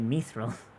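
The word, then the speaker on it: mithril: the word for glitter so myth real is GL uh the gray glitter or that's the the name of it it's myth Bill well then why did tolken pronounce it methil I don't know but that but that's he's a linguist so and and that's how it works in his own language yeah but like I've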